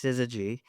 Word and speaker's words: syzygy: His institute, mm, which I probably called him up and I totally mispronounced the name, but now I know it's syzygy, and I Not know, not it's s- about not s- not aligned sister celestial not bodies.